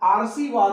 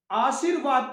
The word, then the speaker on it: आशीर्वाद: जैसे यहां पर लगा है, अगर हम स पे लगाए हैं और उच्चारण करें आशीर्वाद हो गया, तो ये गलत है। आशीर्वाद पढ़ा जाता है। आशीर्वाद यहां सही है कि स पे नहीं लगा करके व पे लगाएंगे, इसलिए व के पहले पढ़ेंगे आशीर्वाद।